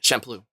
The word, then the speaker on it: Champloo: That's how you pronounce it. Champloo.